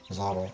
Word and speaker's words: Mazzotto: Is it Mazzotto? How do you say your name? Yeah, Zotto. Mazzotto.